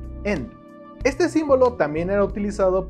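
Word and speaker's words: 円: original significa círculo y su pronunciación es en este símbolo también era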